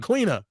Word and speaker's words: Queena: Everybody saying Queena. I said it right. I didn't say Queenie. I said Queena.